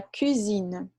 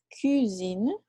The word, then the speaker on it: cuisine: E la cuisine, lembra o aquele bem fechadinho? La cuisine, la purée. Então, a cozinha. Tá bom? Então, cuisine e cousine.